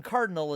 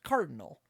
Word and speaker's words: CRDL: So, like, Team Cardinal is Team CRDL, I think. So it's Cardinal. It's the closest, basically, that they can get.